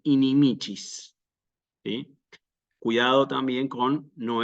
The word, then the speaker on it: inimicis: no resulta tan claro Entonces se pone el acento por ejemplo aquí donde corresponde que es en la penúltima sílaba inimicis sí Y nuevamente aparece